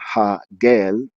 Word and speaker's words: Hegel: which uh the h h-e-g-e-l uh the e the ease and hegel are pronounced as a's if they were pronounced in their latin way and a ha gel is a blessed wind